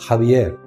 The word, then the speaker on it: Xavier: family lived in the castle of zavier pronounced jaier which was an impressive